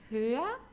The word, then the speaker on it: höher: Here an irregular one, hoch, höher, am höchsten. Okay, here for the comparative we just have an H without a C here, so we don't pronounce the H, we don't hear it when we say it.